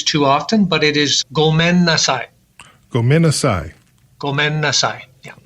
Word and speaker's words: gomen nasai: And hopefully it's not one that any of us will need to use too often, but it is gomen nasai.